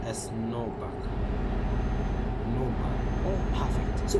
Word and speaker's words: Nürnberg: And Nuremberg pronounced as Nürnberg.